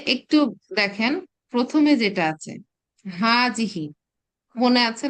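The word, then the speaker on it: هذا: Basic difference বুঝতে পেরেছি হাজা হচ্ছে ম্যাসকুলিন সিঙ্গুলার ডেমনস্ট্রেটিভ প্রোনাউন হাজি হচ্ছে ফেমিনিন সিঙ্গুলার ডেমনস্ট্রেটিভ প্রোনাউন এবং দেখেন এটাকে বলেছে কি উচ্চারণের সময় একা আলিফ টেনে উচ্চারণ কিন্তু লেখার সময় আলিফটাকে অমিটেড রাখা হয়।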